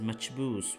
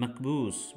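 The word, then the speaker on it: مجبوس: the speaker for example this famous dish is pronounced as machboos with a cha by the hadha or satellite people and macboos with a ka by the bedouins which is closer to the standard arabic pronunciation a second mark of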